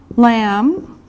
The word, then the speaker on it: lamb: Lamb. Lamb. Remember this is silent. The B is silent.